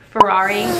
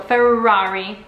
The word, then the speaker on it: Ferrari: food build off two words first one is Ferrari know that luxury exotic car that is imported